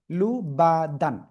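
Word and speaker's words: لُبَدًا: কিন্তু তাও তো না তাহলে লাম পেশ লু বা জবর বা লুবা এরপরে দাল আলিফ দুই জবর দান কি হল লুবাদান সবাই একসাথে উচ্চারণ করেন তো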